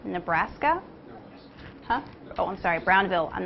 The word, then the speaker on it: Brownville: now reactor engineer at Cooper Nuclear Station in Brownsville Nebraska huh oh I'm sorry Brownville I'm not from there so I pronounce things wrong and we're going to talk